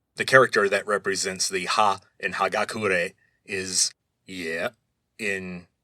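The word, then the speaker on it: 葉: Anyway, but in Japanese, a leaf is just ha, like H-A.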